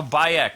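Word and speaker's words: Bayek: like in purse a byuk that's how you say his name okay so there's no why it's just by Ecch yes I can't pronounce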